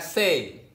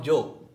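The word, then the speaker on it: 性: Bacanya say atau Joe. Istilahnya Joe.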